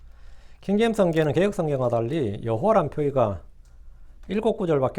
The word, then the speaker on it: 여호와: 왜냐하면 여호수아, 호세아, 예수아 이런 같은 이름의 표기와 발음을 통해서 우리가 여호와란 발음이 야훼보다 훨씬 더 정확하다는 걸 알 수 있습니다.